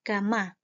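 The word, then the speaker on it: gamma: dengan kayak huruf yaitu tapi dibacanya adalah Gama nah Gama itu besarnya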